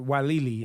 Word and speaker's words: Weili: Weili.